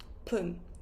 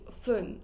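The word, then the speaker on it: 分: or 0, we will say pun with P, pun. 0 includes 10, 20, 30. We will say pun. And then if it finishes with 2, 5, 7, or 9, we will say fun or pronounce it as fun.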